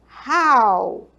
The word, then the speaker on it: how: How. Olha só, quando você for falar esse how, esse H é como se fosse um som de R mesmo, tá?